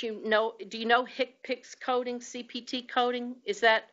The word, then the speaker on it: HCPCS: the HCPCS Common Procedure Coding System, and we pronounce it in the inelegant way, HCPCS code.